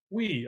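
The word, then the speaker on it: più: We, I think. We? We. I think. How do you spell that? PUI, I think, or PIU. We. Oh, Pew.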